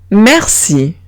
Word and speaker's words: merci: Pues si tengo una C delante de estas vocales, que son E o bien I o bien Y, o sea, E, I o bien U, Y, se pronuncia como una S. Exemple, merci. Merci.